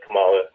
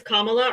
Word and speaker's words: Kamala: Uh, I'm I'm not really a big fan of Camala to be Her name is Her name is Kamala or you can just say Harris if you can't say her name properly.